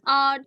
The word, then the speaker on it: hour: Okay, अगर आप spelling देखोगे बेटा तो spelling okay इसकी क्या है H, but H is silent here.